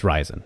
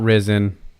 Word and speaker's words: Ryzen: official pronunciation for ryzen I hear different people pronounce it differently it's ryzen it is ryzen it's not risen it's not anything else those are really the